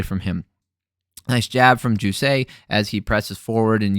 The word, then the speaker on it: Jousset: Jousset is how you pronounce it. He is the French.